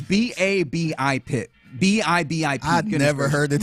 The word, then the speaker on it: BABIP: Because I've always heard it called BABIP with the emphasis on the first.